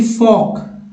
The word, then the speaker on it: folk: फिर देखिए फॉक FOLK, जिसमें देखिए यहाँ पर आपने देखा है LM, यहाँ देखिए LK, तो L नहीं उच्चारण हो रहा है।